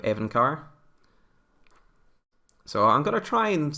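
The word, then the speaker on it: Evincar: For some reason, I keep reading it as Envicar instead of Evencar.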